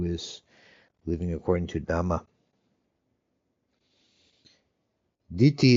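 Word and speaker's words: dhiti: Diti is another word for courage, and it's D-H-I-T-I. It's not the same as Diti, which is almost the same pronunciation, spelled differently, which means a view.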